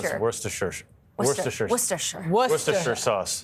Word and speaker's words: Worcestershire: And honestly, I get haunted by Worcestershire sauce forever. For the record, how do you pronounce it?